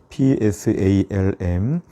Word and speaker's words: psalm: 노래 그런 뜻입니다 그래서 영어에서 쌈이라고 해서 psalm 이렇게 피는 묵음이고요 싸움이라고 하는 것으로 시편이